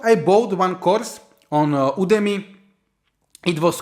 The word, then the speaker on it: Udemy: I went to this website udmi or udmi I don't know but I think it's pronounced udmi and you have these